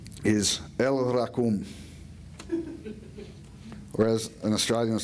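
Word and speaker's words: El Rachum: One of God's names is El Rakum, or as an Australian would say it, El Rakum, mate.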